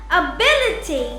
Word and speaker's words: ability: When we come across words ending in ity or ity, we put the stress or place the accent before the syllable. For example, ability, Ability, capacity, capacity, generosity,